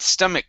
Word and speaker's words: stomach: okay very nice uh notice how at the end of this word we pronounce this like a a k that k can mix right along with that c sound so i only pronounce one sound stomach cramps okay so it's not uh stomach cramps there's not two of them it's only one you said it right